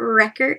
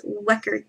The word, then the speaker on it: Wecker: It's not Wrecker, it's Wecker. Weckerer.